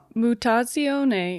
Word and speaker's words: Mutazione: Mutazione is the Italian word for mutation, meaning to change or alteration.